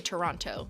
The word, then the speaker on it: Toronto: I actually say Toronto. Like I pronounce it with the letters.